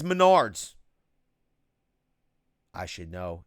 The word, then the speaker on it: Menards: will see it cause he says it's pronounced Maynard Maynard save big money it maynard's now they yelled at me they said it's Menards I should know it's